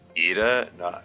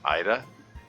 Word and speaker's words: Ida: Oh, and Miss Ida is really Ida, not Ida.